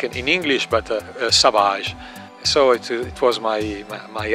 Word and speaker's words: Savage: detective called savage and I took his name but with the French pronunciation so so Sahaj it is written like in English but Sahaj so it was my